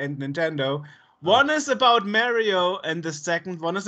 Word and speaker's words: Mario: It's pronounced Mario because we interviewed Charles Martinet and he says Mario himself.